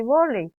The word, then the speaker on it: vólei: Y dice, che naha'ãséi vólei. Yo no quiero jugar el vólei. Acá escribimos como castellano, pero pronunciamos en guaraní vólei.